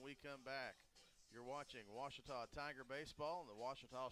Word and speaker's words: Ouachita: it pronounced oh Akita back in Texas everybody pronounces it Wichita but really it's Ouachita Washington how would you pronounce it Ouachita it's Ouachita Baptist University get it right it's Ouachita people it's Ouachita thank